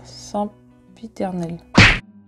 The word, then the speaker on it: sempiternel: Comment prononce-t-on le mot sempiternel?